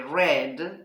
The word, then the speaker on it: read: es did by Bot read se escribe igual pero en pasado se dice red como el color rojo Go went come Came